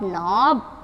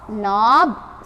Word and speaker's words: knob: இங்கேயும் k is silent, so in, ob, knob, a, job, job, job, knob, sob, rob, mob and cob.